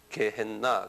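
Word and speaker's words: γέεννα: 개 한국말로 내가 저기 놓게 개 여기 원어에여 그리스 말이 개했나 그래 한번 따라서 해 보세요. 개했나 개했나 개했나 그래요. 예. 에.요 요 영어를여 개했나를 그냥 영어로 쓰면 개 했 나 이렇게 그냥 영어로 그냥 발음 나오는 대로 쓰면 개했나 그래요.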